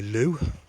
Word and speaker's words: Leeuw: rare one this it's called a loo i think i'm pronouncing it right sounds like something that uh inspector clouseau would say when he wants to go to the loo l-w-e-u-w um and this